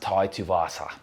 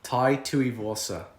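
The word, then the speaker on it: Tai Tuivasa: vasa versus dontel maze it's pronounced tai tuvasa tai tui warsa sorry man tuvasa she's awesome don't tell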